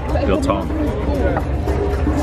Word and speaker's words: biltong: Biltong. Got some sushi. This is biltong. Right? Is that? Yeah. You need a bit of a South African accent. Okay, how do you say it? Biltong.